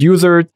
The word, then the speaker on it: Uizard: say to their peers so we like to call it wizard internally but some people call it users some people call it your eyes Arts it doesn't matter okay so u-i-z-a-r-d dot